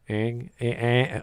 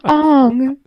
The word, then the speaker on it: Aang: Ang. Well, I got confused with the single P, and I was like, is that a long A or a short?